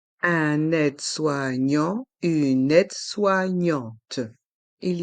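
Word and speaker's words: aide-soignante: un infirmier une infirmière un aide soignant une aide soignante un aide soignant une aide soignante il y a trois sons différents dans le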